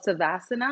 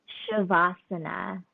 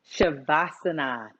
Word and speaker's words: Savasana: And lastly, before a good night's rest, you have a pose called Savasana. Am I saying it correctly? Shavasana. Shavasana. There you go.